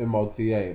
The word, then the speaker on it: Mota: I can't pronounce it, so I just call it the M-O-T-A. But I believe it's pronounced the Mota.